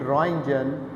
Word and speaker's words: Röntgen: फसेस will hello कॉन्रेट रजन टी जो है इसमें साइलेंट है इन्होंने 1895 में डिस्कवर